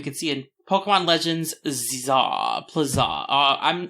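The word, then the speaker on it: Z-A: to talk about characters is it Z to A or zah they haven't actually confirmed the pronunciation of the game I would just say Z z a without saying anything for the hyen Za is probably correct but I like the idea of Pokemon Legend zah pla yeah Plaza it's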